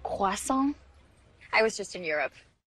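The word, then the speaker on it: croissant: got back from Europe it's actually pronounced quason I was just in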